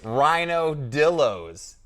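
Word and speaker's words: Rhinodillos: pronounce this correctly now it's rhino dillos not ryan i would be confused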